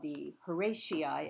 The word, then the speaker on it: Horatii: Um, the Oath of the Horatii, as it's commonly called. The Latin pronunciation would be the Horati, which is also acceptable.